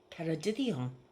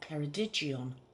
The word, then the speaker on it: Ceredigion: But did you know that the devil is too embarrassed to visit a place called Ceredigion? Or Ceredigion, depending on your pronunciation.